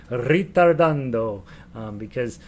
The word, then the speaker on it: ritardando: what that says and you have to say it like that ritardando because um if you say it any other way you might get in trouble right ritardando make it sound very italian hey ritardando i'm going